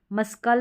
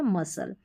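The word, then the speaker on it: muscle: मस्कल नहीं बोलते हम, इसको बोलते हैं मसल।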